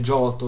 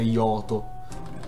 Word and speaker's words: Giotto: Sì, si dice Giotto, non si dice Yoto.